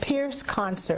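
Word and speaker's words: Pyrrhus: to tune into and it's it's called It's pronounced Pierce concert Pierce concert right p-y-r-r-h-u-s-c-o-n-c-e-r now I really would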